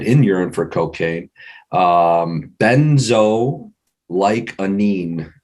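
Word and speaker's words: benzoylecgonine: urine for cocaine um benzo like a neem is kind of how you pronounce that I've had to do that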